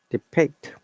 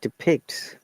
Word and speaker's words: depict: chart depicts okay and be careful about the pronunciation of debate it is not depict this e sounds like I depict so there are some situation where D is sounds like d i this is one of them depict however this one